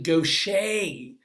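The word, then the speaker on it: Gaucher: way I'm not pronounced it's French so it's actually Goshay disease gosh I used to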